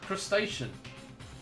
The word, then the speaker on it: crustacean: Think of the word ocean, but without an A at the front and pronounce the rest the same.